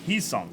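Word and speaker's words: Hyeseong: Hyosung Kim. I remember Hawk said it earlier. It's perfect pronunciation. James Tibbs out of 150 blue. Hisung. Heesung.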